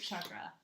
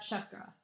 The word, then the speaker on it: chakra: Mulad chakra. This is actually how you say it. Mulad. And by the way, it's chakra. It's chakra, not chakra. By the way, it's Chuck as in Chuck Norris.